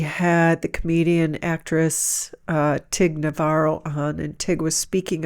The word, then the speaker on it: Notaro: Notaro? Is that how you pronounce it?